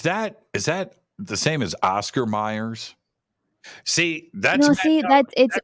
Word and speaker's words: Mayer: how i'm reading it i'm reading it exactly how it's spelled but it's pronounced meyer but it's spelled mayor ah that was that